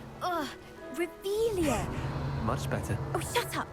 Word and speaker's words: Revelio: place where are you saying it wrong oh rebelia much better oh shut up wait Akio he's